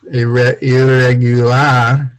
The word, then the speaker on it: irregular: Irregular, and that's irregular. Is, I think in Spanish it's spelled the same. Irregular, we say irregular. You have to do a r sound in English. Ear, almost like ear.